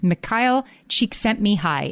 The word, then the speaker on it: Csikszentmihalyi: I'm going to pronounce his name carefully. His name is Mihaly Csikszentmihalyi.